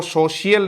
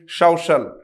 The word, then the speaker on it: social: ठीक है, हाँ ये जरूर ध्यान देना है, इसको सोशियल नहीं बोलेंगे आप कभी भी, क्या बोलेंगे? सोशल। क्या होगा दोस्तों? सोशल, SOCIAL। विशेष ध्यान देना, इसका प्रोनाउंसिएशन सोशल, ऐसा सोशल। हम बोलते हैं सोशियल, शियल नहीं आएगा, सोशल।